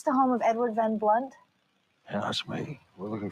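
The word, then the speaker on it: Blundht: he is a monster you spelled my name wrong it's DHT silent h what are you doing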